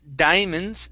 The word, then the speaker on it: diamonds: Right here, in this word, okay, diamonds, the I and the A there at the beginning aren't pronounced separately, saying diamonds. So we don't say that, we say diamonds.